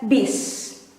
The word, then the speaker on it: bus: it this way but the way indonesian pronounce or say it is biz with i beats the correct way to write it down formally is with you but because we pronounce it as bs some people mis do mistakes with write this with e it's informal it should be like this but we pronounce it as bis and we will practice